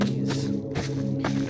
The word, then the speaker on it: unease: But I do see why you might think it's a Z, because it really does sound like a Z. They just like decided to be something else, because why not?